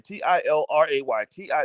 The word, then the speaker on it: Tilray: started talking about children t-i-l-r-a-y-t-i somebody type in the chat because somebody's always like well how do you spell it is it tay ray toray toray t-ray it's tilray t-i-l-r-a-y that's one can of